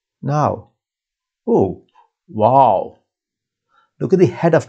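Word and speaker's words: واو: When it is written at the start of a syllable, it is a consonant giving w sound. Now this w sound, it's very similar to the sound in vote and a bit similar to w sound in wine, right?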